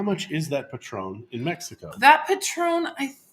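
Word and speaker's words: Patrón: so it is petron okay so that is petron that is how it's pronounced i'm michael gall good morning jolene is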